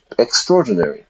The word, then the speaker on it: extraordinary: It was extraordinary. And we don't pronounce it like that. We pronounce it like extraordinary.